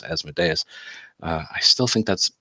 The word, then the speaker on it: Asmodeus: hasn't been cast that's calling them it's it's Asmodeus I still think that's pronunciation is dumb should be be Asmodeus anyway